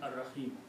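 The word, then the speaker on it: الرحيم: In the recitation, whenever we want to stop, we do not pronounce the harkat of the last word. Harkat of the last word is, for example, if you stop here, then the harkat, which is the kasra on the last letter, Ar-Rahimi will not be pronounced. You will pronounce Ar-Rahim.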